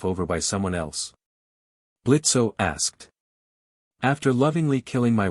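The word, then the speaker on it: Blitzø: I'm Blitzo. The O is silent and I'm the founder of IMP.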